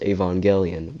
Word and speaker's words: Evangelion: I've been corrected many times, but I believe it's pronounced Evangelion, which I think is the correct way, so shut up.